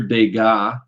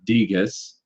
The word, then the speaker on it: Degas: So Claude Monet, Edouard Manet, Edgar Degas is how you say his name, not Degas or something.